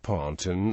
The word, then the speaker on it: pontoon: throughout the European theater us combat engineers commonly pronounced the word ponton rather than ponon and new s military